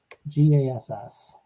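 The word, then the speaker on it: Gass: gas or case uh let me look at how it's spelled here g-a-s-s i would say gas might not for a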